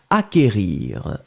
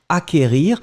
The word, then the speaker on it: acquérir: qu une accent aigu r ir d'accord donc acquérir acquérir le sait qu en fait vous ne prononcez pas vraiment de 2,2 vous n'allez pas